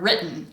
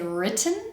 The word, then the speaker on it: written: In North American English, we very frequently replace the written letter T with a glottal stop in our pronunciation. For example, I just did it with the word written. I don't say written, I say written.